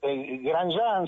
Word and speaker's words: Grandjean: de don luís claro mi apellido gran yang se pronuncia se escribe grandes ya es medio complicado tiene un momento determinado